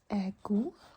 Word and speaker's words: god: Often the D is not very emphasized on or not pronounced when it's at the end of a word. So for example, we have god. The D is not pronounced.